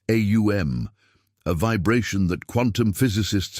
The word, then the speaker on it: Om: One of the most universally recognized sacred sounds is the Sanskrit syllable Om, pronounced AUM, a vibration that quantum physicists have discovered contains the same mathematical patterns found in everything from galaxies to seashells.